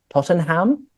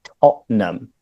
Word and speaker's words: Tottenham: Is it Tottenham? It's like, almost. You could say Spurs, of course, but no, we say Tottenham.